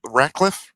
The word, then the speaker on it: Radcliffe: it's just rude what Daniel Radcliffe did, or Radcliffe. Is that how you pronounce that kid's name?